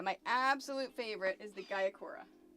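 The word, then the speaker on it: Gyokuro: Yeah, my absolute favorite is the Gayakura. I have no clue if that's how you pronounce it. It's Gykuro.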